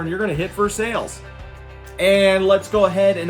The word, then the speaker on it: Versailles: It is pronounced Vur-Sales. Let's not be confused about it. It's not Versailles. We're not in France.